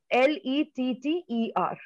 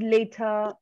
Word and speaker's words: letter: L-E-T-T-E-R. Letter. Letter. Now you're correct. You said later.